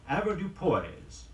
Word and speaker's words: avoirdupois: afraid to pronounce it in spite of its French parents it's pronounced in the English Way the word is avoirdupois AV o ir DUP o is and colloquially it means